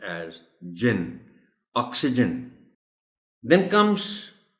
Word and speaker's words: oxygen: एक कि आपने जिसको मैं प्राइमरी स्ट्रेस कहता हूं वो ओ पर देना, ऑक्सीजन, और दूसरा ये जो